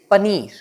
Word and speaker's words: paneer: Now the last word of today's video is paneer. Yes, paneer. So this is a bit uncommon from its pronunciation that we pronounce it as paneer but